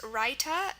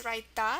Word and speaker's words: raita: Again, we have our T, because the word's pronounced raita. In Hindi, it's raita, so it's just going to be a T.